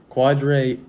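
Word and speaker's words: Quadree: Okay, Garrett, this pronunciation is all you. Quadre? Yeah. Wow. Quadre Olison.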